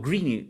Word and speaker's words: Greene: subterránea escrita por Shane Green o Green no tenía esta duda Cómo se pronuncia como verde en inglés solo que extra al final Oye está muy buena